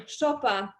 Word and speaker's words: Szopa: people because as you probably know my surname chopa is quite similar to joppa which means in